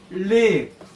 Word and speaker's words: leaf: 그 다음에 이거는 LEAF는 live. 리브. L 발음이 그냥 live가 아니고 혀를 입천장에 붙여야 돼. L 발음을 이렇게 live.